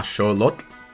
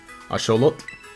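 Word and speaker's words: axolotl: and I'll show yeah with an L at the end though, but you pronounce it like something like that. like uh a aolot like that. I don't know what I I don't really know what the emphasis should be. Asholot something around that.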